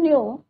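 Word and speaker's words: knew: was right well you न्यू my mother नटर ने क्या पूछा कि क्या यू न्यू नो का क्या होता है न्यू के यहां प भी साइलेंट होता है यू नू माय मदर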